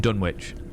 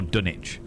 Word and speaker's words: Dunwich: nation is Lizzy from Dunwich or dunich depending on how you pronounce it the people of dunich